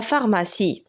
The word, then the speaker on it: pharmacie: alors pharmacie كنكتبوها PH ولكن كتنطق F.